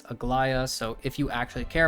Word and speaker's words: Aglaea: was talking about uh she has multiple different ways that people have been trying to say her name aglia AGA whatever it is but her name in game at least from when I was doing the story is pronounced is Agia so if you actually